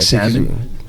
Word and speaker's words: salmon: Yeah, like salmon, bologna. Yeah, bologna. Yeah, bologna's one of them. Salmon. It should be SAMON. Yeah, Fuck, you put that L in there.